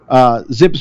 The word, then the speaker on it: ZiPS: model and that's why zips rhymes with dips cuz it started out